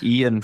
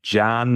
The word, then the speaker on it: Ian: of baptized me with, because Ian for a lot of Italians is quite difficult to say because the E and the I are pronounced sort of differently. So I either get Jan or Jano.